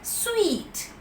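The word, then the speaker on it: suite: we need to realize s-u-i-t is also pronounced as sweet weight away language equal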